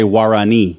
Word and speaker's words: Guarani: Well, that's how I would say it. Guarani. Say it one more time. Guarani. Guarani. Yeah. What? You don't really say the G in Spanish if Hold this is on.